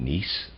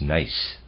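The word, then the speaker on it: gneiss: I've been pronouncing it nce I apologize the correct pronunciation is nice and of readers aside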